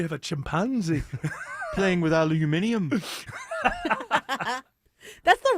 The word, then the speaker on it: aluminium: Playing with aluminium.